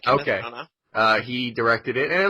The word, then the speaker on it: Branagh: Kenneth, I'm saying his name wrong, Branagh. No, that's his name. Kenneth okay. Branagh.